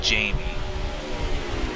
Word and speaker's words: Jammy: It's spelled out as Jammy, but it's supposed to be Jamie.